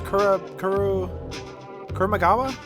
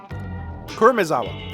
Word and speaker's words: Kurumizawa: How do you pronounce it? It's Kurumagawa? I can't remember his full name. Kurumizawa, thank you.